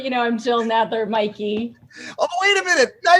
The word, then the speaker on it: Mikey: is it's wonky but it's always been pronounced mikey and so i just spell it now m-i-k-e-y and i figured it